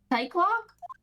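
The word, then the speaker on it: Psyche-Lock: Psych lock.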